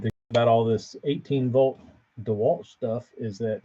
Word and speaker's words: DeWalt: be a good purchase North Carolina it's actually pronounced DeWalt I have heard that it's uh in communities